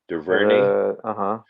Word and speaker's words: DuVernay: I've always said that girl or that lady, not girl, Ava, I can't pronounce DuVernay. How do you say her last name? DuVernay.